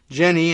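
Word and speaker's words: Jenne: any answers he said Jenny and I guess that's the pronunciation of j-e-n-n-e said he walked to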